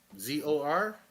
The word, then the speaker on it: Zor: ZOR. Z0R. Yes. Yeah, it is. Yeah. Because I asked him live in the chat how do you pronounce his name. He said it is Zor.